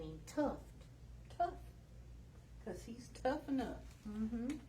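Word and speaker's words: Tuff: should name him tuft tough because he's tough enough mm-hmm t-u-f-f to rhyme with the tough on the end of his tail t u f f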